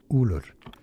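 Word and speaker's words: Ullr: Ulur. Ulur. Ulur. It's pretty straightforward. Therefore, in English, well, Ulur.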